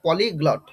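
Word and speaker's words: polyglot: আচ্ছা অনেকেরই অনেকেই তোমরা আছো এরকম হয়ে যায় অনেক সময় যে উচ্চারণের সমস্যা হয় স্যার কি উচ্চারণ বলব এটা পলিগ্লট এরকম প্রনান্সিয়েশনটা হবে হ্যা পলিগ্লড তাহলে পলিগ্লড কথার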